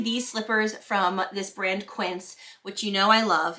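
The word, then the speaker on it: Quince: idea but specifically these slippers from this brand Quin which you know I love even though I never know how to pronounce the brand I have found out it's pronounced quins these Rock these are exactly like the ug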